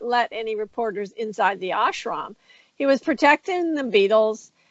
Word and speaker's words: ashram: I would say ashram. How would I correctly pronounce it?